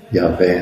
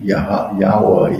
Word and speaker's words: Yahweh: Yahvé, né? O famoso tetragrama das 4 letras hebraicas, né? Yahu, Yahweh, Yahvé, tem várias pronúncias, né? Nós conhecemos mais como Javé, né?